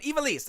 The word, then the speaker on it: Ivelisse: And the big announcement is Ivelisse, La Sicaria. You know, I listened to this right before I went on, and I've already lost it. But Ivelisse, I know that that's correct.